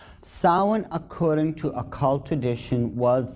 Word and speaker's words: Samhain: call it souring now when you look at the name it looks as if it's saying Samhain or something like that no no no this is properly pronounced and the ancient Gaelic as sowon sowon according to occult